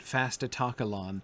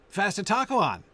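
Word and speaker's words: Fastitocalon: is very insistent and if you don't pronounce it fasta talkalon then it doesn't scan in the lines and it always scans right if you pronounce it that way um so uh anyway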